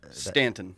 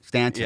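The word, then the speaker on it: Staunton: do you pronounce that Stanton Stanton yeah there's a u in it so yeah historically a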